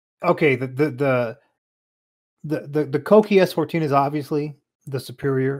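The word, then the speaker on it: Kouki: Are you saying Koki? Yes, because that's how you pronounce it.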